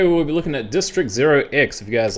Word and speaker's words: district0x: bit of a deep dive-ish into these guys district 0x that's how you pronounce it market cap is currently 110 million